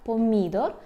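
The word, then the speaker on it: pomidor: Польща або помідор помідор Зверніть увагу на наголос так помідор це помідор взагалі Це ми наголосами також треба буде працювати ви напевно вже помітили що ми кажемо А на нас банан помідор трошки ну ніби і подібні слова правда але є відмінність у наголосі і це треба тренувати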